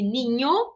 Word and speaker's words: niño: E aqui, ninho, a palavra do espanhol, que significa menino, tá? Ninho significa menino em espanhol. O O se mantém a pronúncia. Então, não muda dependendo da posição que ocupa na palavra.